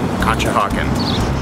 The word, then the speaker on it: Conshohocken: may but the bigger question is can you spell it c o n s h o h o c k n kcha hawen you heard it Welcome to our eye on